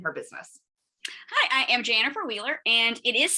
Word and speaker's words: Janifer Wheeler: business hi i am jennifer wheeler and it is spelled exactly it is pronounced exactly the way you see it spelled there's a funny story